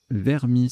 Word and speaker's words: vermis: plein le coup suivant vermis ça se prononce ainsi j'ai vérifié vers m us à 24 sous top